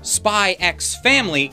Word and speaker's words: Spy x Family: question with the title spy x family do you pronounce the x no you don't if you managed to